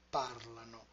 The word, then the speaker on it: parlano: Io parlo, tu parli, lui or lei parla, noi parliamo, voi parlate, loro parlano. In parlano, the stress is moved back by one syllable.